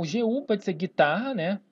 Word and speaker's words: guitarra: O GU pode ser guitarra, né? O gui, tarra. Note que eu não pronuncio o U.